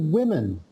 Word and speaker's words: women: woman woman one woman but if we had two we'd say two women so that's a you just got to remember that that uh the way it's spelled the o that should you know it sounds like an e so that's just strange